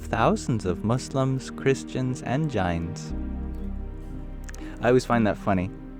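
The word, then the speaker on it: Jains: of Muslims Christians and giantes I always find that funny did you know that the the correct pronunciation of The Janes is giant I have a hard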